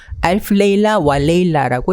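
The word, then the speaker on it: ألف ليلة وليلة: 알프 레일라 와 레일라라고 읽습니다.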